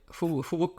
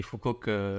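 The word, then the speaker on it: Phú Quốc: Phu Quoc on dit en vietnamien, mais Phu Quoc, si on doit Voilà. le prononcer à la française.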